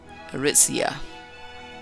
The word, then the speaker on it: Aritzia: And this is Era Aritzia is how it's pronounced.